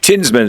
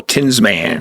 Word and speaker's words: Tinsman: is and uh how do you say your last name right tinsman it's like the tinman from those who are of eyes only with an s in the middle tinsman tinsman all right and you